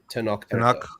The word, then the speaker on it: Tenoch: Is it pronounced Tenoch? Yeah, Tenoch Huerta.